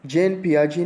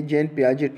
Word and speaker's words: Jean Piaget: का जो नाम है ये अगर आप लोग देखें तो ये इसकी स्पेलिंग कुछ इस तरह से है, JEANPIAGET, जैन पियाजेट. ये ऐसे मतलब अगर हम इसकी लेटर्स को देखेंगे तो ये जैन पियाजेट पढ़ा जाता है, लेकिन ये जैन पियाजेट नहीं है, ये जैन पियाजे है.